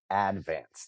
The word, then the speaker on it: Advance: If you were from Staten Island, you would pronounce that newspaper the Staten Island Advance. Advance.